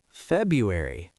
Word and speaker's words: February: February. It's so common that it's basically accepted now. But the correct pronunciation has both Rs.